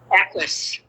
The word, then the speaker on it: Equus: So how do you get cast in Sidney Lumet's, how do you pronounce it, Equus? Equus.